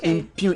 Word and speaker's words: impugn: I spelled impune as in IMPUNE.